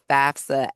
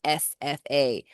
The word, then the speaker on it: FAFSA: So it is the FAFSA, FAFSA, not Hey, FASFA.